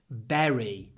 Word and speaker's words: bury: burying berries so yes it looks like bur or bury but we say Berry uh and on buul